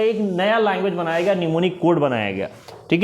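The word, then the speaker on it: mnemonic: गया कुछ सांकेतिक भाषा जिसको निमोनिक कोड बोलते हैं निमोनिक लिखते एम से ये साइलेंट रहता है निमोनिक कोड कहा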